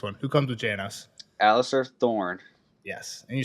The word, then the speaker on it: Alliser: to answer this one who comes with Janos Alistar Thorne yes and you said it right I thought I was about to trip you up and say Alistair I always call him alist with a t